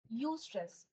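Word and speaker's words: eustress: स्ट्रेस, इसको बोलते हैं यू स्ट्रेस। यू स्ट्रेस नहीं है ये, ठीक है। यू स्ट्रेस नहीं है ये यू स्ट्रेस। इसमें ई इज साइलेंट, लिखने के लिए ई लिखते हैं बट बोलते यू स्ट्रेस है, यू स्ट्रेस नहीं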